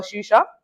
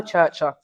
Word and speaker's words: Churcher: Yeah, we'll talk about that after in London under the guidance of renowned mentor Mel Shusha. Is that right? Is that how I pronounce the name? Melusha. Mel Churcher. Oh, Churcher.